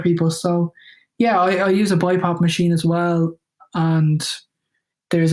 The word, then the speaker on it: BiPAP: I may be saying it wrong, but is it called Bipap? Yeah, I use a Bipap machine. Yeah, you're right. You got the pronunciation right.